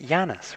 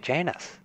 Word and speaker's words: Janus: meet you janus janus it's not pronouncing at Yanis we pronounce it janus janus i know of